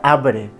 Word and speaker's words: arbre: I també en paraules com, per exemple, arbre, que es pronuncia arbre.